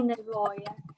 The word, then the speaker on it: nevoie: De ce ai nevoie? What do you... So, Asil, tu de ce ai nevoie acum? Am nevoie. Make sure you pronounce the e at the end because otherwise it means needs in plural.